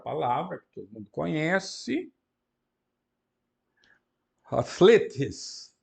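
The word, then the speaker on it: ἀθλητής: Depois, outra palavra que todo mundo conhece, atletes, atletes. Alfa com espírito brando, as vogais são longas, são etas, e na última sílaba tem um acento.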